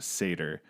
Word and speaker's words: Satyr: If you've not heard of them, it's spelled Satyr, pronounced Satyr.